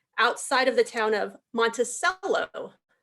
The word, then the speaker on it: Monticello: of the town of Monticello, as compared to how we pronounce Jefferson's estate as Monticello here in Virginia.